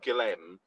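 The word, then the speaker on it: Guilherme: we brought on Guillem or Mm. Gilheme, as they pronounce in the stadium today, Oh, like very good.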